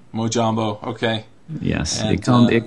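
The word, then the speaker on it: mojombo: say your Twitter handle my Twitter handle is pronounced mojambo mojambo okay yes it come it comes from that's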